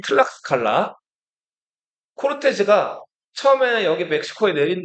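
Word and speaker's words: Tlaxcala: 예, 여기 라라고 돼 있는데 기역 받침이 들어가면 더 맞겠어요. 발음이 틀락스칼라.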